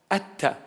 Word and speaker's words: Atta: Atta. That's the Hebrew Aramaic pronunciation, Atta.